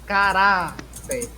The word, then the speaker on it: caráter: Nas paroxítonas, nós temos aqui, ó, por exemplo, caráter, não é? Caráter. Então, a segunda sílaba, caráter.